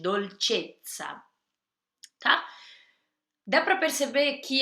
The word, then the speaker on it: dolcezza: E esse tsa tem o som da pizza, tem dois Es, então é um tsa bem forte, dolcezza, tá?